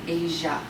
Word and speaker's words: Asia: What's the SI saying? Asia. When we're talking about the zh sound, we spell it ZH. There are no words in the English language spelled with a ZH. That's just the symbol we use when we're talking about the sound. Zh. It's spelled SI. Georgia.